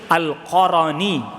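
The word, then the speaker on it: al-Qarni: orang pergi dia seperti Uwais ya benaran ear Alqorni Allah alam yang lebih tepat bacanya Alqorni bukan Alqorni tapi Alqorni kartu nama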